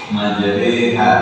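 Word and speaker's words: مجريها: Kalau kita baca dia kasrah dia jadi e atau lebih yang lebih sebaiknya itu dengan membaca majraha tidak majraha ya. Iitu dengan membaca majraha. Majraha. Nah, seperti itu membacanya. Ananda bisa apa tadi ba? Majreha. Majreha. Nah, seperti itu kalau dengan imalah.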